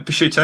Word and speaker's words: Picciuto: I would say my intros and outros inspired by, I don't know how to pronounce his second name, David Picciuto. Yeah, Picciuto.